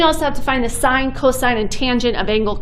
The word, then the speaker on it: sin: the abbreviations like this they are still pronounced sine cosine and tangent not sin cos and tan so for this first